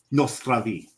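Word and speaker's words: na zdraví: In Czech, Nostravi. Nostravi, right. Right. So even Polish has the same stress, puts the stress in the same syllable as the Russian, but in Czech it's Nostravi.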